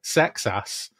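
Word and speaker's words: Seksass: I mean, it's spelled S-E-K-S-A-S-S. Old name. Sex Ass.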